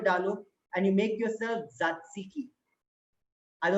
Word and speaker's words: tzatziki: and you make yourself tzatziki. I know it's a tongue twister Greek name. If you're sitting at home, repeat after me. Tzatziki. The first T is silent.